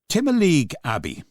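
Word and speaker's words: Timoleague Abbey: Timaleague Abbey. Yes. Am I pronouncing it correctly?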